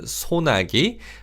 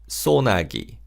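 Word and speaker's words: 소나기: And in terms of pronunciation, you can pronounce this word sonagi. But sometimes, especially in speech, people will say sonagi. Sonagi. So do keep that in mind. Let's practice saying this word.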